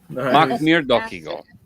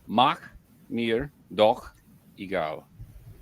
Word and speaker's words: Mach mir doch egal: Mach mir doch egal. That's how you say it. Mach mir, slowing it down. Mach mir doch egal. But you have to say it all in one go, and there has to